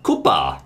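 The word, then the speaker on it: クッパ: se in Japan his name in Japanese is Koopa Koopa ah Koopa Koopa Troopa well you Koopa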